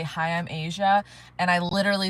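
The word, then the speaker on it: Aja: It is pronounced like Asia, literally like the country or the continent of Asia, but it's it's it's not spelled like that.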